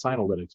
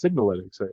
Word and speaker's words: Signalytics: I used to mispronounce that one as Synalytics, but it's Signalytics as I went to be corrected on.